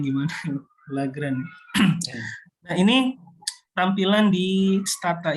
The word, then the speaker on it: Lagrange: Ini bacanya gimana? Lagrange.